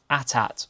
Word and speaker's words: AT-AT: Okay, scrolling down on the list again and next up we've got a new Atat or AT-AT, however you want to pronounce it.